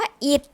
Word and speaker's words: อิฐ: นะ คะ ต่อ มา คำ ว่า อิฐ ท้อ ฐาน เป็น ตัว สะกด ค่ะ นะ แต่ มี เสียง เป็น พยัญชนะ ตัว ดอเดก ค่า คำ ว่า ครุฑ ทอ